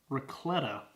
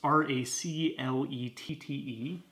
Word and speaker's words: Raclette: We got Murray's Racletta. I don't know how to actually pronounce that. And it's not in focus. It's Raclette.